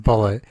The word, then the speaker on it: Bulleit: of like anything right like uh I like Bulleit Bourbon bullet all that gun yeah but it's a bu LLU et I think but it's pronounced bullet and it's like for a big bottle you